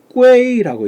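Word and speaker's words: 归: 그래서 성모 붙여서 꾸에이라고 일성으로 꾸에이 이렇게 발음해야 돼. 꾸에이 이렇게 발음해야 되는데 요것을 꾸이라고 발음을 해서는 절대로 안 된다.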